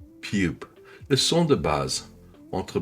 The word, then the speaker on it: ㅂ: Piup se prononce entre B et P, léger, sans souffle, sans tension. Les lèvres se ferment doucement et s'ouvrent. Pas de force, pas d'énergie excessive, juste un son neutre.